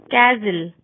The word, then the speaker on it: castle: T is not pronounced in these common words: castle, Christmas, frozen, listen, soften, hasten, rapid, whistle.